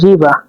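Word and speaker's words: riba: শব্দে যাচ্ছি মাছ দেখুন মাছকে সারভনে বলা হয় রিবা মানে মানে মাছ এটা হল আর এটা আই এটা বি এটা এ রিবা রিবা মানে মাছ বাক্য প্রয়োগ দেখছি আমি মাছ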